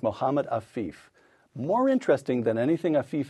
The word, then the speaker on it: Mohammed Afif: Did I pronounce that correctly? Yes. To men like Mohammed Afif.